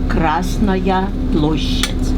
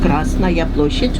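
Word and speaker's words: Красная площадь: In Russian, we pronounce it as Krasnaya Ploshchad. Krasnaya Ploshchad, or Red Square.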